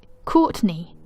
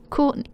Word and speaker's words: Courtney: my real name's Courtney but you pronounce the T in Courtney Courtney Courtney Courtney Courtney I don't